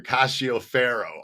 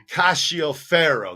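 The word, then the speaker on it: Cascio Ferro: ka kashi o fero castio pharaoh i i mispronounced a name back here cassio pharaoh i need to uh look at this seek his because the c-i-o that shio ka there we go don vito cacio ferro that's how you say that name right there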